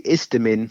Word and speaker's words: Isthmian: And you're playing the Isthmian, if I've said it right, League South East Division, which I was Isthmian. checking. Yeah. Is how do you pronounce it? It's the Istamin. Istamin. It's pronounced There you Istamin.